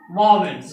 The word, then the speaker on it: vowels: vowels, हाँ, बहुत तो बोलता भवेल ववेल क्या क्या बोलता है, वो नहीं करना। क्या पढ़ना है? The correct pronunciation of this word is वॉवेल्स। वॉवेल्स क्या बोलेंगे?